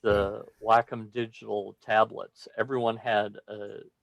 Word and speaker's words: Wacom: company pronounce it so i think he said like what you do with your dog you walk them when they first came